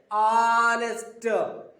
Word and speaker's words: honest: an honest, h ఉంది కదా అని చెప్పేసి h తో పలకూడదు. h is silent. honest, ఏమన్నారమ్మా?